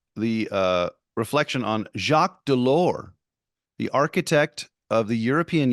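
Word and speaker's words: Delors: speech read up yours delore which of course has a silent S at the end of it so it looks like up yours Dolores and that's a whale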